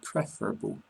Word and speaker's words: preferable: Say prefer, but preferable. Comfortable and vegetable.